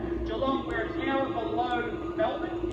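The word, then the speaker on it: Geelong: not from America uh my hometown is jalong some people pronounce it as gong it's spelled like that jalong we're an hour below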